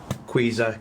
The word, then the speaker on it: QEZER: There's a few different people who say different names and how to pronounce this, but QEZER, Q-E-Z-E-R.